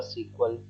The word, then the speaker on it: SQL: college and SQL or sometimes we pronounce as a sequel okay depending upon the pronunciation so SQL is basically a structure